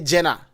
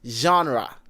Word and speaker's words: genre: Ghanaian say Jenna but it's not Jenna. It is genre.